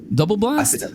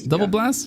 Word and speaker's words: DOUBLAST: think it's pronounced doblast double blast double blast right it's spelled kind of funky um double blast um